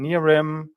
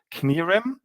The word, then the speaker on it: Knirim: silencing letters like in Nirim. In English, you would say it without the K, but in Germany, you would pronounce it Knirim.